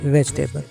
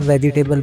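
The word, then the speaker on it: vegetable: है वो है जी वेजिटेबल जिसे आमतौर पर हम वेजिटेबल बोलते हैं तो वेजिटेबल बोलना गलत है क्योंकि इसमें ई जो है इसको प्रोनाउंस नहीं किया जाता तो अभी हम सुनते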